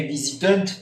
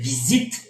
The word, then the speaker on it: visitent: Que no se dice, cuidado, no se dice visitant, no, se dice visite hasta la T.